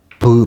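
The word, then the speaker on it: β: 요건 뭐 쉬우니까 넘어가고 그 다음에 이제 베타인데 베타는 이제 브 발음이 납니다.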